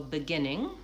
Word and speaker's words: beginning: So beginning, 3 syllables, beginning, stress on the second syllable. That has the pure vowel I. The first syllable is more of a schwa or an I, beginning or beginning.